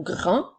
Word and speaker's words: grand: une fois le mot Grand est un adjectif il s'écrit j'ai R a n qui font le son 1 et la lettre D est une lettre muette alors nous avons grand nous utilisons le mot